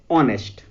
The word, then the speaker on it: honest: Honest, its spelling also started with H, but H is silent here, so we didn't pronounce it, and we pronunciate it the word as honest.